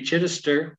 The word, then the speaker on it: Chidester: And today we're going to meet Chidester. Am I pronouncing it right?